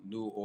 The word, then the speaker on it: New Orleanian: So you talked about, pretty much being a New Orleanian. That's how you pronounce it, right?